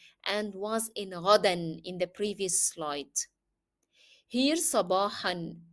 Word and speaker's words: صباحا: Here sabahan. You have to pronounce the tanween even if you stop on the word because it is part of the word. Sabahan.